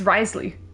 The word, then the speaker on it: Wriothesley: last night has been released I think you pronounce it it's it's Risley we haven't met him in the game yet